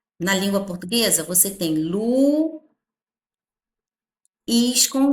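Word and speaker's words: Luís: Lu, is, quando a gente separa, ó. A sílaba tônica, a forte está aqui, ó.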